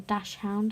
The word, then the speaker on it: dachshund: sure you all know what a dachshund is or a dash hound or some people pronounce it i'm knitting one of